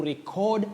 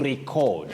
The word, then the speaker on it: record: So in this case, as a verb, you say record, to record something. Okay. To record. Record.